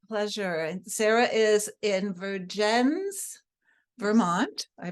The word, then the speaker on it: Vergennes: And Sarah is in Vergennes, Vermont. I pronounced it correctly.